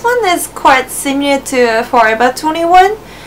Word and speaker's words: Forever 21: Forever 21 is forever we pronounce v more like B in Japanese and so that's why